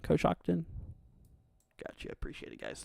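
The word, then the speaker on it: Coshocton: hill sorry uh you're very very welcome uh kakon is that how you say that koson Kos Shockton Kos Shockton got you appreciate it guys thank you for the help on pronunciations here that's one thing I in the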